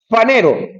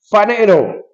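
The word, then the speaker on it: phanero: Eh, panero, aunque se escribe panero, la p ahí es como la f, como phili, fanero se ser visto, brillar, aparecer.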